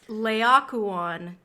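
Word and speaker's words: Laocoön: need I want to make sure that I'm pronouncing this correctly so I'm just gonna hear the naked me it's Leia Kwan it is a Trojan priest killed with his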